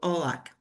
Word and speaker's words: Haut-Lac: It's a French name. Sometimes we hear very different pronunciations. All are accepted as long as they are remembered. So Haut-Lac.